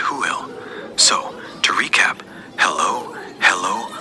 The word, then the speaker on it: Hwyl: But the classic Welsh farewell is "Hwyl," pronounced "Hoo-il."